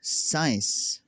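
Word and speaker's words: science: वो यह है कि अगर किसी लफ्ज में सी से पहले एस आता है तो सी हमेशा साइलेंट हो जाएगा।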